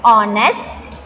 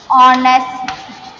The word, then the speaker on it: honest: In words like honest, R, the letter H is silent. So, the words begin with vowel sound O. Understood? So, it is an honest man.